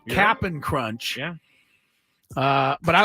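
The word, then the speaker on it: Cap'n Crunch: I'm pronouncing that correctly it is not Captain Crunch Captain it's cap apostrophe n it is look at the box it is capping crunch yeah uh but I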